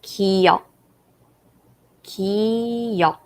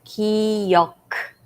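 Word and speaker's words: 기역: pronounce their name so first consonant is kyo ki some people pronounce ki yok because of this consonant that's how you guys pronounce in english but when the bottom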